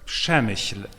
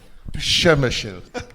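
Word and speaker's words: Przemyśl: Przemysl. Przemysl.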